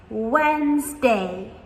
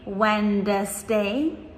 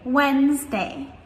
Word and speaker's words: Wednesday: How do you think we pronounce it? Guess what? Wednesday is how we say this. We do not say Wednesday, we just say Wednesday.